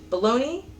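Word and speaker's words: bologna: it balone but it's bologa kind of like the region in Italy so yeah that's it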